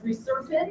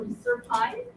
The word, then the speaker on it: reserpine: And from this plant, we actually get a compound known as reserpine or reserpine. I've heard it pronounced two different ways.